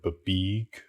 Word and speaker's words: BBEG: You didn't pronounce the word babeeg correctly? Yeah. What? No, it's an acronym.